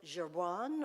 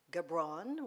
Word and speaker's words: Gibran: And today, our wisdom comes from the Lebanese American artist, writer, and philosopher, Khalil Gibran, or Gibran, whichever way you want to pronounce it.